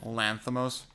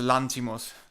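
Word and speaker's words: Lanthimos: I just need to say I get so pissed off when Americans say Lanthamos. It's not a It's not It's He's Greek. It's a Lantimos.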